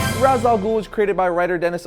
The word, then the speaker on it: Ra's al Ghul: are always arguing about how you pronounce Raza G's name is it razal ghoul or is it R Al ghoul well if you want to go by the great Batman Raider paulini it's R Al ghoul which he made known